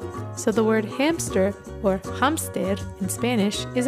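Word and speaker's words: hámster: for hamster and remember even though this is a cognate and it's spelled the same way it's pronounced a little differently so for hamster we say hamster repeat after me hamster hamster hamster hamster except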